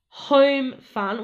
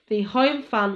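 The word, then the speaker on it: Homfun: But there's no E in the word, it's just H-O-M-F-U-N. That's how they've spelt it, but it's pronounced apparently Home Fun.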